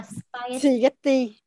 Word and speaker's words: spaghetti: Ra bắt đầu mới pơ, đó là spaghetti. Xì thì không phải. Âm này là âm chìm, chúng ta không phát âm ra lưa ra hơi. Spaghetti.